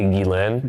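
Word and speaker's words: Ghislaine: It's technically Gilain.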